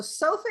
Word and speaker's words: sofa: good so far okay so sofa is two syllables so i want you to do a higher pitch on the first syllable so far so far so when